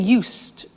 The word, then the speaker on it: used: So, I'm getting used to speaking Italian every day. Listen to the pronunciation. I said used with a T sound.